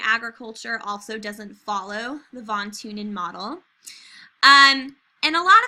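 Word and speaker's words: von Thünen: transportation cost is what thawne TuneIn is based off of sometimes i save on TuneIn but i think it's supposed to be Vaughn tune in the H is silent like silent like Neanderthal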